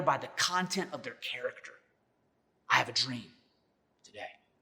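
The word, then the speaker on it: χαρακτήρ: The Greek word there for exact representation is the Greek word that is pronounced character.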